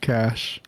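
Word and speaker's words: cache: Sorry, I was looking up the etmology of of cash. It It is French. It's originally a French word. That's why it's weird. So that's why the E is not pronounced.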